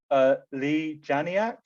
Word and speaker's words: Leigh Janiak: Yeah, because I suppose I'm kind of linking to that as well, and you might have to correct my pronunciation here, but Leigh Janiak, who directed it, is that right?